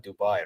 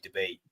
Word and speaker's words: Dubai: Because they call it Dubai, right? It's actually debate. Dubai. It's the way we pronounce debate.